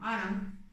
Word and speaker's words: Hwarang: Hwarang o Arang, como se pronuncia, significaban guerreros flor, era un grupo élite.